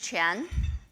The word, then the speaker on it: Qian: My name is Qian. My name, even though not the same word, but has the exactly same pronunciation with the most important word in the word, money. So when we say Qian